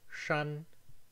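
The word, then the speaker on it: shān: For example, the word san, 3, has an alveolar S, but the word shan, mountain, has a retroflex. San, shan, san, shan, 3 versus mountain.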